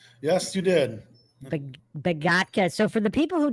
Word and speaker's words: Begotka: So, we have a special guest today on Mind Shock here, the one and only Dave Begatka. Did I pronounce that correct? Yes, you did. Beatka.